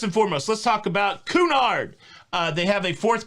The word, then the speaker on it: Cunard: listening to myself talk i think it's pronounced cunard cunard so many of these words